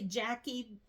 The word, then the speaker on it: Jacquie: Okay, the next comment came from Handcrafted by, I want to say Jackie because it's spelled different. It's Jacquie. It says, "Hi Jackie, I'm new here.